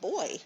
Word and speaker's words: buoy: to the buoy and it's actually pronounced two ways and they're they're both okay i i guess it's okay to pronounce it boy in some parts of the world so sometimes it just sounds like b-o-y but bowie or boy does the same thing we've got the picture